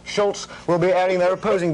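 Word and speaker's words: Szulc: and former New York Times Reporter Tad sulk pronounced Schultz will be airing their opposing views on Secretary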